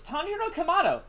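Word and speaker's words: Tanjiro Kamado: i still love when he knows k keeps mispronouncing tonjiro's name i have a name you know it's tonjiro kamado all right ganpachiro kamaboko and by the way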